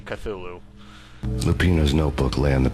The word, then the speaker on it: Cthulhu: line with your blood I haven't heard pronounced that way in years even though I think the correct one is actually Cthulhu lupino's notebook lay on